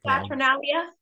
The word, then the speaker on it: Saturnalia: the was, how do you pronounce it, Saturnalia. Saturnalia.